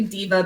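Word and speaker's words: Deva: And this is a Gregory Diva backpack. So it's a women's specific backpack. Diva is spelled D-E-V-A, not diva like a superstar diva.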